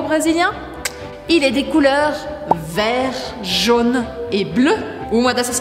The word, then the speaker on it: vert: Mais uma vez, uma letra que a gente não fala no final da palavra. Na palavra vert, a gente escreve vert, mas a gente pronuncia vert.